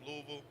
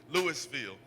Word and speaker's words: Louisville: and minoring in honors healing from Louisville, Kentucky. I said it right. It's Louisville. People that don't not not from there, they say Louis Lewisfield. They mess it all up with all kinds of things.